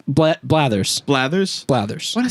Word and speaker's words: Blathers: If you've got we're going to figure out a way how to kill Blanters. Blathers.